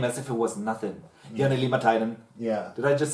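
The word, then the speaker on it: Jani Liimatainen: Jani Limatainen.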